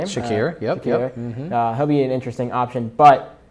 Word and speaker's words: Shakir: Khalil Shakir, I think is how you say his name. Shakir, yep.